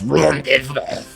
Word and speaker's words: rendezvous: I thought that word was going to be a really, like, pretty French word, but no, it's rendezvous. It's spelled Rendezvous.